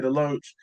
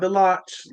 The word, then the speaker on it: DeLoach: And then he started it out with the big play to Devontae DeLoach, not DeLoach, like they were saying on the broadcast.